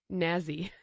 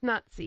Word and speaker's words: Nazi: And he was calling it Nazi. And I'm like, it's Nazi.